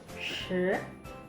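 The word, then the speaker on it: 十: 10, shi. Oke, bedakan pengucapan 4 dan 10 ya teman-teman.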